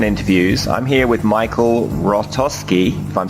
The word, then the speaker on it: Hrostoski: I'm here with Michael Rostovski I'm saying your name right yeah yeah it's got a silent h in there it's got me confused